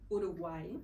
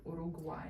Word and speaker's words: Uruguay: But Uruguay is, do I pronounce it correctly, by the way? Uruguay, right? The pronunciation is Uruguay. Uruguay.